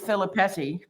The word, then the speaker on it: Filipetti: since we since we couldn't rhyme with Philip petti other than spaghetti we went with your